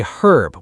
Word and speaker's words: herb: In Britain, we say herb with the H sound at the beginning. In America, we say herb. We don't say the H.